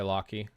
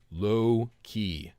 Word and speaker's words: Loki: I am not going to pronounce Loki as low key because that is not how the name is pronounced.